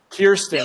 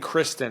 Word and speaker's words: Kirsten: Kirsten. I keep saying Kristen. I mean Kirsten.